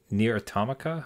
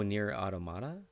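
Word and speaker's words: Nier: Automata: ever wanted to play near atomica how do you say the second oh near automata near automata okay yeah yeah so anybody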